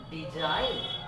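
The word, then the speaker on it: design: দেখো কি লিখেছি দেখো যদি কোন শব্দের শেষে আই জি এন থাকে তার উচ্চারণ হবে আইন যে সাউন্ড উচ্চারণ উচ্চারিত হয় না যেমন ডিজাইন রিজাইন rail fail good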